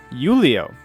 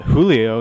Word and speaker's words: Julio: my name is julio yulio these people love to pronounce jays as a wise i would have thought julio you know but whatever you're looking